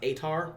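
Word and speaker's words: Aetar: the first one is the atar AE t a r I believe it's pronounced atar orar big eagles moving on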